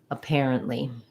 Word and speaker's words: apparently: the air diphthong um the stress is on the pair syllable so our letter a is going to say the a sound and then our air is going to be long a pair a parent parent we're going to have just a little bit of a schwa a pair um um so keep that stat syllable very short and then we end with li tense e sound apparently apparent and apparently um